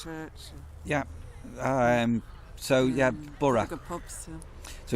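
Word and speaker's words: Burgh le Marsh: We're 20 minutes away drive away from Bora. It's not even that's 10 minutes. 10 10 minutes. Um, so it's pronounced Bur Bur Lamar is how it looks like, but Bur Lamar is actually Bora is how you say it.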